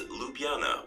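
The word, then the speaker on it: Ljubljana: the South and Southeast three the country's capital lupana is to be pronounced as lupana without any JS four Slovenia is known for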